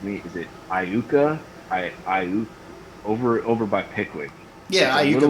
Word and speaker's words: Iuka: Is it Iuka? Over by Pickwick. Yeah, Iuka, Mississippi. Town. Yeah. Iuka, that's it.